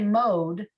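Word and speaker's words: מְאֹד: Shva tells you, sound this out, sound this consonant, right? Okay. Mode, and then go to the next syllable.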